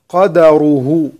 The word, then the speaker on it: قدره: كلمة قدره سورة البقرة الآية رقم 236، ننتبه إلى أن الدال مفتوحة، ومتعوهن على الموسع قدره وعلى المقتر قدره.